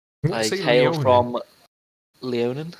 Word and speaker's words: Leonin: from Leonin. Is that how you pronounce it?